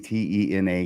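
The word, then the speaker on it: Tena: I'm guessing te na. She pronounces it Tina. I don't know if it's just an unusual spelling.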